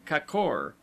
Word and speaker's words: kor: letter of the word, as kor, gorges, pronounced as though written kakor, the a having the sound of a in sofa, lions, dodon.